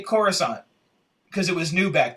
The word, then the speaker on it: Coruscant: And how they would say Coruscant, because it was new back then. Remember, that was the first time they ever said It was Coruscant.